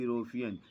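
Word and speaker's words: European: जैसे ए यूनिवर्सिटी, ए यूरोपियन, यह देखने में तो ई या यू से शुरू हो रहा है, लेकिन इसका उच्चारण वाई से होने के कारण उसके पहले ए लगता है।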